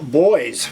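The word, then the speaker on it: Boize: uh anyway this is a band called boys but it's spelled b o i z e and this is we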